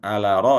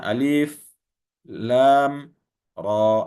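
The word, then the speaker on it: الٓر: Jadi bukan ala ra, ya. Dibacanya alif lam ra, ya. Lamnya 6 harakat.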